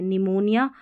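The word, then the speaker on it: pneumonia: पी एन को न पढ़ा क्योंकि पी साइलेंट है। निमोनिया और न्यूमैटिक पी साइलेंट है।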